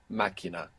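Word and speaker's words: máquina: machine the car Machina this is another example of the Q U spelling producing k sound m-a-q-u-i-n-a Machina Machina good so there's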